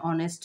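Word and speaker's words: honest: অনেস্ট অনেস্ট না অনেস্ট এইচ এর উচ্চারণ সাইলেন্ট থাকবে এজন্য এখানে কি হবে মত হচ্ছে এজন্য এখানে কি হবে এন হবে mister Alam is অ্যান অনেস্ট man mister Alam is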